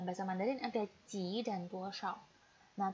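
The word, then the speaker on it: 多少: Cara bacanya bukan 多少, tetapi 多少.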